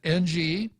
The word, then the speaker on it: Ng Eng Hen: Defense Ng Eng Hen, I'll spell that, N-G-E-N-G-H-E-N, Ng Eng Hen. Can you repeat that for me, Real Joe Cruz? Inging.